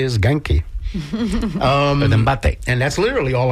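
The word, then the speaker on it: 元気: How do you pronounce that? Genki. Genki. Like with a Hard G? G. Hard G. Yes. Genki. Yes.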